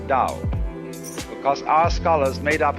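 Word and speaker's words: 道: If there were an apostrophe after the T, you would pronounce it Tao. But if there is no apostrophe, you pronounce it Dao.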